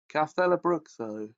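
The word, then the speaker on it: Castelobruxo: Castelabruzzo, or Bruxo, is an imposing square edifice of golden rock, often compared to a temple.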